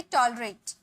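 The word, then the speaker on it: tolerate: बर्दाश्त करना यानी कि टॉलरेट, टॉलरेट, बर्दाश्त करना, टॉलरेट। देखिए आर के बाद ए है, यानी कि आर का उच्चारण यहाँ पे निकलेगा, टॉलरेट बोलेंगे, ठीक है।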